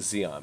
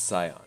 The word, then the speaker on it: Zion: I keep saying Zion, but it's Zion.